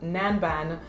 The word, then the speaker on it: Nanban: Now the next fragrance that we have rhymes with Gangnam, and it is called Nanban by Arquiste.